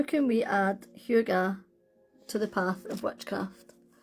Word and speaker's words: hygge: Um, and it's pronounced Huga.